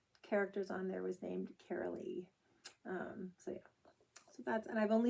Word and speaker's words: Carol-Lee: It's Carol-Lee. It's like Carol with 2 E's is how you say it.